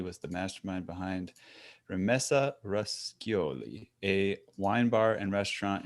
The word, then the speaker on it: Roscioli: I was like, oh yeah, it's Italian. Roscioli. Roscioli, see?